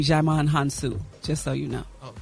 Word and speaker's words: Djimon Hounsou: Gary, Gary, you pronounce his name Djimon Hounsou, just so you know.